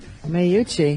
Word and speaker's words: Meucci: name is int he's an Italian okay Antonio Meucci mayucchi yes how's he spell it meu CCI my grandmother's name is MUCC